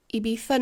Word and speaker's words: Ibiza: Ibiza Nights. And yes, you do pronounce it with a bit of a lisp.